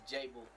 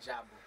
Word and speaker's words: Jabu: I got a, you've been saying my name wrong the whole time. It's Jabu, not Jabu.